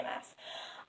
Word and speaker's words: Maas: Maas. I love saying that, just by the way, Throne of Glass by Sarah J. Maas, it rhymes and it's fun.